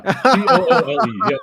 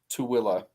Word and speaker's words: Tooele: Yeah, that's how you spell Tooele. Yeah, Toole. Yeah, that's it. Yep. Tweel. Yeah. Tool. Oh yeah, I guess the fabric is spelled different, but yeah, still. it's still you wouldn't pronounce that Tooele.